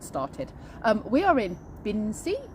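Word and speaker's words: Binsey: um we are in bin c i never know how to pronounce it binsy um and we are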